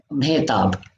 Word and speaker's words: Mehtab: Now, I probably haven't pronounced that correctly, have I, Anil? Mehtab. Mehtab, thank you so much.